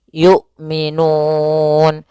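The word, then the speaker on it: يُؤْمِنُونَ: juga Yu gitu ya tidak boleh dibaca dengan Ain tapi dia Hamzah yukminun Kemudian pada lafal Nun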